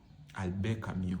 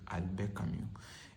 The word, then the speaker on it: Albert Camus: Albert Camus, on dit Albert Camus. Il faut prononcer les choses en français. Si on parle en français, on prononce aussi les noms des gens en français.